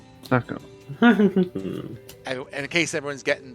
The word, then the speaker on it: Thaco: My name is Thacko." Thacko, nice to meet you too. Okay. A smile. Yep. So I'll even put it in, and it's spelled Thaco. Thacko.